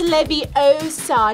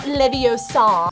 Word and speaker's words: Leviosa: ] stop laviosa it's Love Your Soul it's Libby Osa not Leviosa Guardian guard Livingston